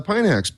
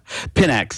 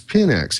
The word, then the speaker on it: Pinax: we came to talk about which is uh pineax peanuts and first off how do you pronounce it uh for the last 19 weeks so pinx is the pronunciation index pinx see that's I'm gonna get this straight eventually